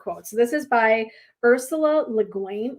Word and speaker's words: Le Guin: this is by ursula leguin le guin i think is how you pronounce it and this is her